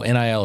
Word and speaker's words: NIL: That is how you say it, NIL. Some people will be like, how's NIL going? And that's when I know they don't know what they're talking about, but it's okay.